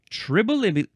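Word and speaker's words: Tribolium: small darkling beetle is tribolum tribol. No, tribol. Ah, I see what I was trying to do because it goes over to the next line. I was adding a syllable.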